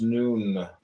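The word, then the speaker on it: nun: and deaths comment on none none pronounced noon transcribed as n the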